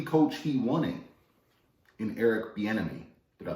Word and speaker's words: Bieniemy: Told you the coach he wanted in Eric Bieniemy. Did I pronounce that correctly?